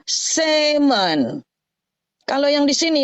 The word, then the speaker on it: salmon: tetap ditulis bacanya Sam kalau ditambah Mon di sini salmon itu justru l-nya enggak boleh dibaca yang ini yang didelete dikorupsi yang ini jadi bacanya semen Kalau yang di sini